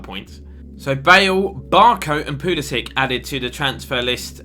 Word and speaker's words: Pulisic: It is pronounced Christian Pulisic, even though to me it would be read as Pulisic, but who knows?